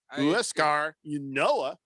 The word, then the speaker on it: Huascar Ynoa: Is that how you say his name? Huascar Ynoa. You know it. You hit it right on the nose.